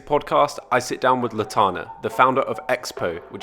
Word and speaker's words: Lotanna: Lotanna is joining us. Am I pronouncing that right?